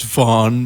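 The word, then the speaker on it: Vaan: It's Vaughn, by the way. It's not Van.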